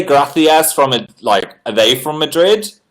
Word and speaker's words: gracias: Gracias is the proper pronunciation. C equals TH.